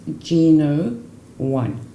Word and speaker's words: GNo.1: so that when you put it together is pronounced Gino won a Gina and secondly very important this is